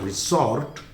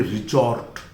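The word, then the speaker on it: resort: और ध्यान दीजिए, इसका सही प्रोनाउंसिएशन कुछ लोग और बहुत जगह पर मैंने रिसॉर्ट लिखा हुआ देखा है। This is नॉट रिसॉर्ट, this is basically रिजॉर्ट।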